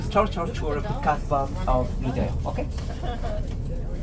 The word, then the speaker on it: Kasbah: So, Kasbah, which is the right pronunciation, means bamboo tree.